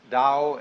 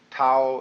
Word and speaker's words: Tao: is Paul the Dao Tao pronounced Dao in the Mandarin dialect Tao in the changhai dialect